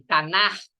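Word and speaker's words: Tanakh: dele então é esse esse nome Tainá ele pronunciam assim ele é composto é uma abreviação de Torá nevim e quieto vinho e o que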